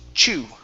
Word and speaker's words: chew: shui in class okay now this word here is pronounced chu we end with that ooh sound instead of chu e